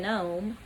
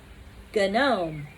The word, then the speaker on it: gnome: don't say it good gnome Nome begins at the letter G Mable that explains like he was a teacher or something the G is silent but I think it